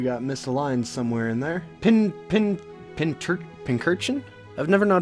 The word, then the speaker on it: Pincurchin: Pincurchin? I've never known how to pronounce this guy's name. Pincurchin, like a pin cushion, but it's also an urchin.